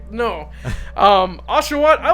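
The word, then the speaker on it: Oshawott: water water washingtonia what is it called ashat aswat I said it right there you go it's aswat Tepig and then Snivy to me it was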